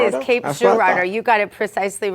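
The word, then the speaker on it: Cape Girardeau: He used the French pronunciation, but he has to understand that in Missouri we name everything French names and then we mispronounce them.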